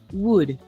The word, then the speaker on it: would: The L is silent. Okay, silent L. Silent L. Couldn't. Igual que would. Igual que should.